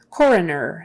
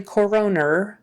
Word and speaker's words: coroner: pox coroner coroner um stresses on the first syllable coroner and it's not really coroner it's coroner so it's almost as if it's a short u in there for that second o coroner coroner critical condition